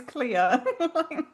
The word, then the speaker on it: Clear: name, so Cuz it does just sound like everyone's mispronouncing Claire. Which I thought for the longest time until I watched it with subtitles, and then I was like, "Oh my god, her name is Clear."